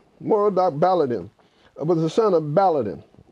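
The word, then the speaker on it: Merodach-Baladan: that time more doc let me just pronounce it's a difficult word it's a babylonian word moro doc balor baladin moral doc baladin was the son of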